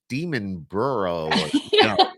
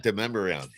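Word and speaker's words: Demonbreun: pronounce it go oh this is demon burrow not deuman so oh yeah yeah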